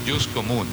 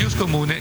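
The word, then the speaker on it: ius commune: Muy bien, la segunda parte de esta presentación tiene que ver con el Jus Comune, IUS, Jus, Derecho Comune, que se escribe como suena en castellano, pero con doble M.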